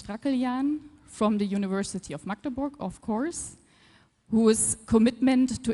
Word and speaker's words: Magdeburg: You pronounce it Magdeburg, not Magdeburg, not Magdebosch.